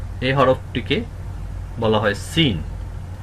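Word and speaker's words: سين: এই হরফটিকে বলা হয় সিন সিন সিন ঝা যেভাবে উচ্চারণ করেছি সিন ঠিক সেই জায়গা থেকেই উচ্চারণ হবে সিন সিন সিন সিনেও একটু শীষ হবে একটু বাঁশি বাজানো হবে সিন সিন সিন সিনের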